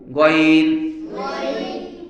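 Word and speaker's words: عين: আইন গইন গইন আইন আইন গইন গন গন নরমাল ঠিক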